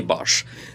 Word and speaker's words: বাঁশ: থাকি বাঁশ সেটা কিন্তু ব আকার তলব্যস এই বাঁশ তাহলে ওইটা হচ্ছে বাস এটা হচ্ছে বাঁশ তাহলে